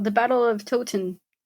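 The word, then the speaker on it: Towton: The battle of Toten. No. T O W T O N. Oh, Tin. Tot. Yeah, that sounds right.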